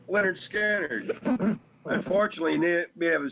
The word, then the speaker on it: Lynyrd Skynyrd: simple man what was that that's uh yeah pronounced Leonard scattered unfortunately knit we have a say there's some